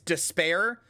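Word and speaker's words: D'Spayre: uh or or sorry it's spelled despar the way you actually say it is spare but it's D uh D apostrophe s p a y r e so uh uh Delight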